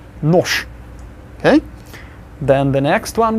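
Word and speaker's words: нож: And the next one, noj, will actually be nosh. Can you imagine actually trying to say noj? That's too hard. So Russians make it easier and say nosh.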